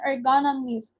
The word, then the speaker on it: ergonomist: environment more specifically um an ergonomist pronounced it's pronounced like an economist designs or modifies the